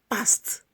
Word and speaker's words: passed: Passed, passed. The pronunciation for P-A-S-S-E-D is the same as P-A-S-T.